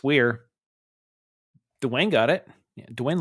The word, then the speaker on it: Wear: It's Weir. Nope, it's not Where. No, it's Weir. I'm like, it's Weir.